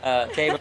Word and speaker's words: Teba: We've actually had a lot of debate about the pronunciation. Does that sound right to you, Teba? Yes, that's the horse's name, Teba.